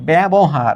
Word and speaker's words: ব্যবহার: মত উচ্চারিত হচ্ছে ন্যাস্ত এখানে ব এর পরে জ উচ্চারিত না হয়ে ব এর পরে এ উচ্চারিত হচ্ছে ব্যবহার অর্থাৎ শব্দের শুরুতে বর্ণের